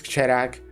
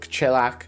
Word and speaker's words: Kcherag: It's Kcherag, not Kchelak, Mr.